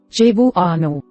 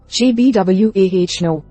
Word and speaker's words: Cebuano: For example, the word Cebuano has 4 syllables, Cebuano. Because native speakers often say their words more quickly, it may sound like Cbwah but remember, all vowels are pronounced separately.